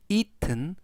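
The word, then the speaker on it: eaten: 동사의 과거 분사가 되겠고요 발음은 이튼 또는 2등 부드럽게 이든이라고 발음하셔도 되겠습니다 그래서 has itten 하면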